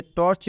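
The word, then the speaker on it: torch: जैसे में टॉर्च, तो आप देख लीजिए टॉर्च में सी है तो इस सी का उच्चारण च हुआ है, यहाँ पे स्पष्ट लिखा भी हुआ है।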